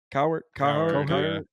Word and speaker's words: Cowherd: Cowherd.